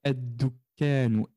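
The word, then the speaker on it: الدكان: Et on va prononcer Eddukanu, Eddukanu. On va donc effacer le lem dans notre prononciation.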